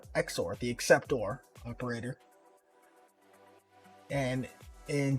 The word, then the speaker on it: XOR: acceptor all right so what is this exor and that's exactly how it's spelled x o r and xor stands for